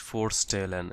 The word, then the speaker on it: vorstellen: তো জিস ফোরস্টেলেন, এখানে ভি কে আবার এফ উচ্চারণ করা হয়, এফ।